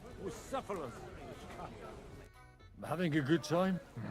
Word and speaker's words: Bucephalus: What kind of name is Bruce Phallus anyway? It's pronounced Bucephalus.